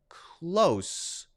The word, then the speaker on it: close: but in this case pronounced with an S sound instead of a z sound all right what about